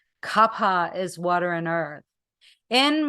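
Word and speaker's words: Kapha: kafa it's actually Kapa with an aspirated H Capa is water and Earth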